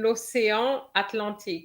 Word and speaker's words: l'océan Atlantique: Paris, there's no liaison between l'océan Atlantique. L'océan Atlantique, non. L'océan Atlantique. D'accord? I know we would be, we try to not to miss the liaison, but it doesn't work there.